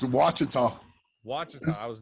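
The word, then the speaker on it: Ouachita: i'm gonna try it uchida baptist university what how do you say it it's wachata watching i was not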